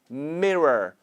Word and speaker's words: mirror: Okay, so when you pronounce this word, the most important part is R part. So when you make the R pronunciation, you have to make sure your tongue never touches the roof of your mouth.